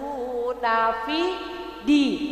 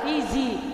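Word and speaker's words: في دين: Fi di Nah itu Dal dinya itu Dal bukan Fizi tapi Fi di ya Bu ya karena Dal ya Bu ya fiillahi afwaja 1 2 3 waritanadahiwaj jadi enggak ada kata-kata lagi kedengaran Fizi tapi fidi ya Bu ya karena itu huruf Dal ya Bu ya nah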